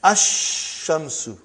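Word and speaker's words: الشَّمْسُ: And then Ash-Shamsu. No al, no lam.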